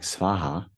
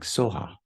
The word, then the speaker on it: Svaha: Now, here you see more like Svaha, but the Tibetans say more like Soha.